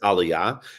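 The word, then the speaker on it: Aliyah: have an enormous number of applicants for it's pronounced Aliah there like a lot of applicants I don't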